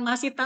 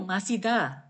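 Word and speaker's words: 마시다: Bukan masita Mbak Ayu, masida. Masida, bacanya Masida ya.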